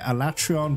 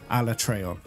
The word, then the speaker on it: Alatreon: to face Alat Tron I keep pronouncing it alatreon but I found out online it's actually Al traon guys I'm [ __